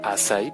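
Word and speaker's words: açaí: El azaí, como les decía, se pronuncia azaí porque es una fruta de Brasil.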